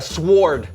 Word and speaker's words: sword: Okay, I'm gonna go with a sword. Okay, the W is silent.